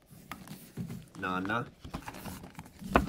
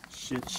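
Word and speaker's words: 七: Nana. How else do you pronounce this? It's not just Nana. It's Shichi and Nana. Shichi Nana. Nana comes off the tongue is a bit easier.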